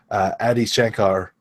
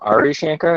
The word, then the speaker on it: Adi Shankar: The producer or co-producer, Adi Shankar, I'm not sure if I slaughtered his name. I think that's pretty good. I've been calling him Ari Shankar until I actually read how you spell it, and I was like, oh, man.